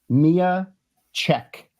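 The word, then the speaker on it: Miya Cech: It's Mia Czech. If anyone is curious on how to pronounce their name, Mia Czech.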